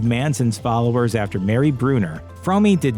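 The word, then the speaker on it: Fromme: member red AKA Lynette squeaky fry which incidentally it really is pronounced fry not from the two founded the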